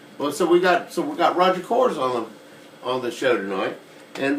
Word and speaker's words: Kohrs: Kohrs is not French. Is No, it- it's is it- German. Is it German? Kohrs is German? Yeah, it's more guttural. So I thought Kohrs came from Denver.